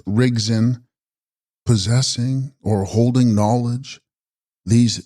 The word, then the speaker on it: Rigdzin: Text: Rigdzin, pronounced Rigzin, possessing or holding knowledge, These deities are purely tantric.